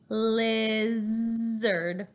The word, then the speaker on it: lizard: him leaping lizard ooh there's a great Z sound in the middle of the word lizard now that can be tricky because our tongue comes forward when we say the L at the beginning of the word lizard but then let's remember to keep our tongue back for our Z lizard I told my